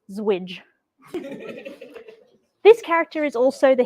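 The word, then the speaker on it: ZWJ: two a special character known as a zero width joiner allegedly pronounced as zwidge this character is also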